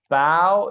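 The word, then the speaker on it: bough: sounds like a u this is bao it sounds like an ow this one has an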